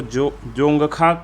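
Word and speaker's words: Dzongkha: तो इसको जोंगखा के रूप में जानी जाती है, ठीक है, जोंगखा। आपका प्रोनाउंसिएशन थोड़ा देख लीजिएगा।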